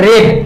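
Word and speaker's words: read: এখানে উচ্চারণটা কি করব, রেড। আই রেড এ বুক। যদি আমরা বলি যে আমরা একটি বই পড়েছিলাম তাহলে কি বলবো, উই রেড এ বুক। তখন এখানে কিন্তু উচ্চারণটা হয়ে যাবে রেড, উচ্চারণটা হয়ে যাবে তখন হচ্ছে রেড।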